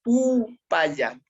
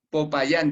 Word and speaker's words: Pupaya: Popayán, dice, no, pero para nosotros es Pupaya.